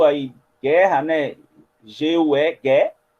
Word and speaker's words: guerra: Em guerra, a gente tem esse U aí, guerra, né? G-U-E, guerra. Só que a gente não pronuncia o U. Né? A gente fala guerra, a gente não fala guerra.